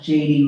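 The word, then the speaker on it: Jadey: Y Y R R A E and it's pronounced JD.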